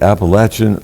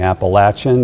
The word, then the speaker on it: Appalachian: But down south, everyone will talk about it as being Appalachian, and they wanted to make sure that we understood that that's the proper pronunciation of Appalachian.